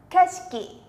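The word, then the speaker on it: 景色: sắc các bạn nhá từ này sẽ đọc là âm này là âm cao này âm si là Âm vô thanh nhá kes mình ta sang X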